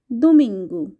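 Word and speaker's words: domingo: কে আমরা বলে থাকি দুমিঙ্গু ও থাকলে উচ্চারণটা এখানে রাস্যুকার দিয়ে হয়ে থাকে দুমিং গু আবারো বলছি সানডে অর্থাৎ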